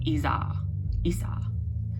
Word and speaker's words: Isa: Okay, so Isa. There's different ways you can say it. I've literally listened to a woman who is Scandinavian and she pronounces it Isa, but I always pronounce it Isas. Like there's an S or something at the end, but again, that's your own discretion.